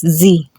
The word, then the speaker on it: sie: Female, they use as sie. Sie. Just like in English, she, but in German, it's a sie. Get the difference in pronunciation and the spelling.